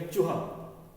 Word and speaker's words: चूहा: ये हो गया चूहा, चूहा, च कम देर के लिए नहीं बोला जाता, चूहा होता है शब्द, चूहा।